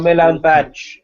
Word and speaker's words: Milan Badelj: I just no idea how to pronounce it, so I'd never heard it. Oh, Milan Badge is how you say it.